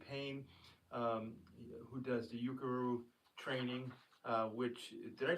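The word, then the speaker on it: Ukeru: And I'm also recommending Jamie Payne um who does the Yukuru training uh which did I pronounce that right, Del?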